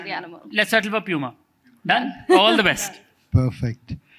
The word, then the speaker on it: Puma: either right because um Puma started off in Germany so the German pronunciation is Puma but when we reached the U.S markets we realized well they pronounce it as Puma so you can call